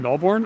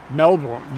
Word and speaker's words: Melbourne: oh yeah okay i the american pronunciation of i've never been there so i can have i mean i can be excused melbourne melbourne melbourne melbourne no you don't hit that r so hard right no boom there we